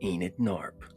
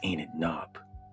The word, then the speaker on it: Enid Shhnaarp: What a bizarre world she lives in, this Enit Narp. Oh, you see her last name is spelled S H H N A A R P. One does not pronounce this, for the S is silent.